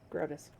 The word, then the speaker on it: Grotus: oh it's not spell it's not spelled how you think it is grotus like like scrotus and the the cleric's